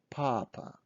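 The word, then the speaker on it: папа: hook for ah so this is papa papa stressing is on first ah papa so pause my video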